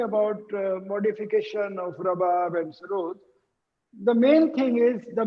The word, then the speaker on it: sarod: Sarod is a Persian word, and the actual pronunciation is Sarud with double O. Oh, I see. Sarud.